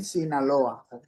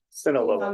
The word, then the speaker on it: Sinaloa: All right, how do you pronounce your last name? Sinaloa. Sinaloa. Noah. That's perfect.